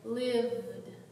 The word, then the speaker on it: lived: the word lived together put your hand in your voice box and say lived you feel like buzzing so we're making a d sound at the end now let's try it